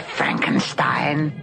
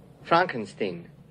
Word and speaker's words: Frankenstein: of a human he can't beat that the Frankenstein frankenstein' you're putting me on no it's pronounced Frankenstein do you also say Frode wick